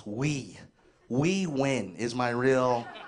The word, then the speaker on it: Huy: But my Vietnamese name, my real name, is spelled H-U-Y. It's pronounced Huy.